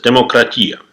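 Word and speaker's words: δημοκρατία: As of today, almost everyone knows that the word democracy came from ancient Greece, where they used to pronounce it as demokratia.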